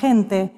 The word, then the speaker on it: gente: Đó là cách ta có những âm G, mà đôi khi phát âm hơi thở ra như từ "gente", có lúc âm nghe trơn truộc như từ "gato".